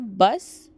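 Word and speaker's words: bus: लेकिन बस को बस नहीं। यहां पर जो उ की प्रोनाउंसिएशन है वह चेंज होती है तो इसलिए उसको बुस बोलते हैं क्योंकि यू नहीं यह उ बोलते हैं इटालियन में और नॉर्मली इसको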